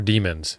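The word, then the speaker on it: daemon: if it's demons or demons and Chris the answer is yes to the second one but pronounced like the first one because we're smart yep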